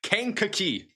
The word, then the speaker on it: Kankakee: All right, apparently it's Kankakee.